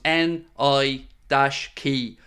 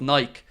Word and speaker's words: Nike: confirm the pronunciation they asked Knight to circle the correct pronunciation and he circled the one which was ni i- key k y instead of Nike so there you go